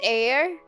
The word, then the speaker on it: heir: up word air is pronounced as air oh it's like herb then it's Silent Age it's pretty weird here